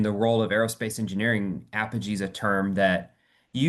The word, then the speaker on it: Apogee: company name and I'm going to try to pronounce it. It's I think you said Apogee. Apogee.